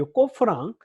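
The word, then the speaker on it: קוף: 자, 이거 이름은 꼬프입니다. 이거 P자 모양처럼 생겼다고 P라고 발음하시면 안 되고요. 저는 지금도 이렇게 타이핑 칠 때 이 꼬프를 보면 자꾸 P자를 자꾸 누리게 되는데, 자, 이거 뒤집으셔야 됩니다. 뒤집어서 180도 뒤집어서 이 Q자 Q라고 생각하시고요. 이름은 꼬프인데 이것도 마찬가지로 원래 일관성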